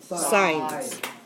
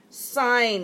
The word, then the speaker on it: sine: just as a reminder sine is abbreviated like that it is still pronounced sine it is not sin cosine is abbreviated like